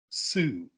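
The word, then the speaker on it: Soo: But for some reason, her name is spelled S-O-O. Sue.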